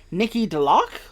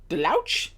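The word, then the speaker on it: Nikki DeLoach: also stars i believe her name is pronounced nikki delock or delouch i'm gonna go with the lock nikki deluck um she's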